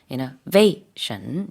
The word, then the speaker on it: innovation: 우리도 이제 innovation 하는데 강세가 영어에서는 innovation 이렇게 가운데 있습니다.